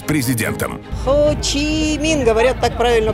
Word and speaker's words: Хо Чи Мин: Хо Чи Мин, говорят, так правильно произносится.